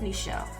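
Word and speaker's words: N'Chell: name correctly and started correcting people when they mispronounced my name um because one well let me just say my name is michelle for those of you that don't know that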